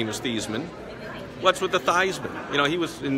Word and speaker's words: Theismann: sure be different than Theismann rhyming with Heisman so that's the lesson